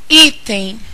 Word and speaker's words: item: da palavra item vejamos item item é uma palavra que pode ser separada em duas partes portanto é uma palavra de sílaba a sílaba tônica da palavra item está justamente no i olha como ele se